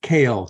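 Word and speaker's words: Koehl: my name is and then is actually pronounced kale k-o-e-h-l I'm a resident of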